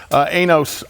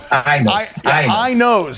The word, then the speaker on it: Ainos: Ainos. Ainos is what it is, right? Ainos, which is spelled A-I-N-O-S.